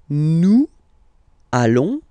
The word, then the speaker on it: allons: Okay, and if you, so final S not pronounced, and then if you are purist, and I'm sure you are, you want to make this beautiful and little liaison, so this little link between the words, so it does mean